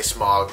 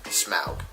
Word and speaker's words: Smaug: that is a you that is how you pronounce it technically a lot of news reporters like to say smog but it is indeed smell so the hubba desolation of smog follows you